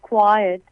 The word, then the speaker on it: quite: It is quite evident that. It is quite evident that. It is pronounced as quiet, but it is Q-U-I-T-E here. Quite.